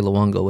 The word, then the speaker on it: Luongo: Because Luongo, he can't say Luongo, it's Luongo.